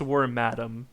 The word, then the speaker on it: Wormadam: Wormadam? I don't know how to pronounce it, sorry. I think it's Wormadam, because it's like Madam.